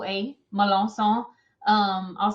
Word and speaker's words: Melancon: K O A Malans. Um, I'll spell it for you.